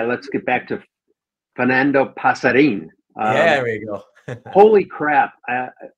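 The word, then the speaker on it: Pasarín: Yeah, because in Spanish, the accent tells you which syllable to emphasize more. So since the accent there on the I is on the last syllable, that means you emphasize the in part.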